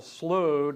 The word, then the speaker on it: Slough: That doesn't sound good, but and the alternative, Colonel Slough, does not sound good either. And apparently Flint checked with the Ohio legislature pronunciation guide, and they say what, Flint?